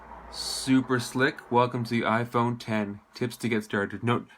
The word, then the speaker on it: iPhone X: hands on the new iPhone 10 it's not pronounced iphone XS pronounced iPhone 10 and so we're unboxing